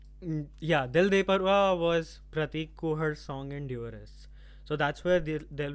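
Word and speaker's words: The Dewarists: are uh like there was a show called duress uh which i have no idea why it's pronounced duress it i would call it divorists but uh so that was a huge exposure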